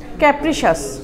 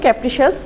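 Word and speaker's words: capricious: প্রথমে আছে উচ্চারণ কি ক্যাপ্রিশিস ক্যাপ্রিশিস আচ্ছা এই সাবজেক্ট গুলো এই ওয়ার্ডগুলো মানে একটু এডভান্স লেভেলের ওয়ার্ড ক্যাপ্রিশিয়াস ক্যাপ্রিশিয়াস এখানে একটু ব্রিটিশ এক্সেন্টে বলছে একটু টান মেরে সো একচুয়ালি উচ্চারণ হলো ক্যাপ্রিশিয়াস এখানে মুডের সাডেন চেঞ্জ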